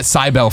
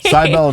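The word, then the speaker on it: Cibele: totally syil right yes I was calling it cybel forever everyone pronounces it in different ways and I'm like wow I'm a bad game developer for naming my game something like so weird to spell and say cbell it's because of the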